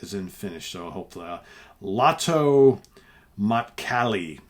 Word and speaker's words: Lähtö Matkalle: The second is titled, and all this stuff is in Finnish, so hopefully, Lähtö Matkalle, I believe is how it's pronounced. Lähtö Matkalle.